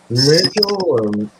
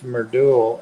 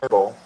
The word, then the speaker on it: Madrul: I think Madrul. Madrul. I asked him one time if it was Merdul, and he said yes. Okay, Madrul. But I hear people say closer to Myrtle.